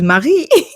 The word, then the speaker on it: Marie: pronounce it in English cuz what Mary? No this is not Mary this is Marie.